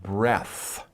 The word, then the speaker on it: breath: out that is one breath okay so when you talk about a breath as a noun it's no e and we pronounce it breath but if you're talking